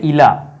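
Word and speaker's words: إلى: এর জন্য কোন উচ্চারণও নেই। আমরা শুধু ইলা পড়ি।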